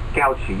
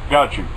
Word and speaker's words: Gautschi: And my guest today is Paul Gautschi. And please help me pronounce that properly, Paul. Gautschi, you got it. Gautschi.